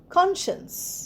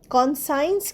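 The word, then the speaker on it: conscience: সি ও এন এস সি আই এন সিই কনশনস। কনসন্সেও সি উচ্চারণ হচ্ছে না। তো আমরা তো আমরা কনসন্সটা সিটা বাদ দিয়ে উচ্চারণ করছি। কনসন্স কনসাইনস কিন্তু বলছি না।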